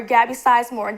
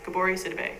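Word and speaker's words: Gabourey Sidibe: So in January there was this ad coming out for Gabby Sizemore. They actually posted her head on a totally different model, plus size model. Gabori Sidibe. That's her name, Gabori Sidibe. It's pronounced Gabori Sidibe.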